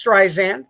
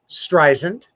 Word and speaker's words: Streisand: career etc uh she was born barbara jones streisand the name is well known how do you pronounce that name john how do you pronounce it streisand streisand now diana rosen her mother her father